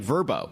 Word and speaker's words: Vrbo: especially with apps like verbo spelled VRBO which has been around